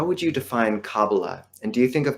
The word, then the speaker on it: Kabbalah: And by the way, I'll pronounce it as cababala with the stress on the final syllable.